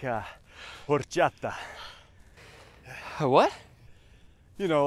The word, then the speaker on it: horchata: No, but you have to say it like that. It's how it's pronounced, or else it's offensive to their culture.